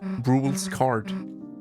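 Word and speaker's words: Rouxls Kaard: It's because that character up there has a weird spelling and people pronounce it wrong, and myself included. So finally we got the official pronunciation. It's just Rules Card, but it's spelled weirdly.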